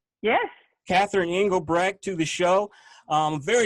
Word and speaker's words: Catherine Engelbrecht: First, I want to welcome Catherine Engelbrecht. Am I saying it correctly? Yes. Catherine Engelbrecht to the show.